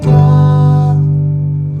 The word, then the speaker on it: God: Oh Lord my God. You can tell me what's wrong with that. You need to pronounce the d. D. There was no d.